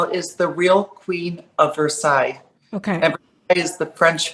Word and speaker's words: Versailles: my YouTube channel is the real queen of Versailles okay everybody is the French way because I'm